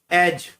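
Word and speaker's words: edge: जैसे पहला है एज, एज में डी साइलेंट होता है।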